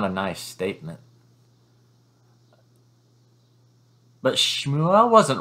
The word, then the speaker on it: Shmuel: of thought was coming nicodemus and shmuel i i think that's kind of the pronunciation of samuel but shmuel one totally steeped in